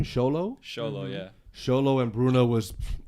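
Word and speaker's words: Xolo: I think the chemistry between um how you pronounce his first name sholo sholo yeah sholo and Bruno was off the chain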